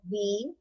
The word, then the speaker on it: wheel: So what's the spelling of wheel? W-H-E-E-L. So what's silent here? Wheel. Because when you say the word wheel, you cannot hear the H sound, right? So H is silent over here in wheel. Okay.